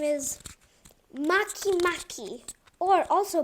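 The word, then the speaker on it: Makemake: are going to cover today its name is Maki Maki or also pronounced as M make but I like to pronounce it Maki Maki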